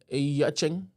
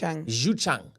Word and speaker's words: Xuchang: Last headline, the city of Yachang. How do I pronounce that one? Don't you dare bring me into it. Do whatever you want to do. Xuchang. Xuchang.